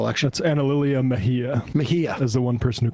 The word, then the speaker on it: Mejia: Yesterday, we had announced that Mieha in New Jersey's 11th district had won the special election. That's Ana Lilia Mejia. Mejia. As the one person who can pronounce it in this office.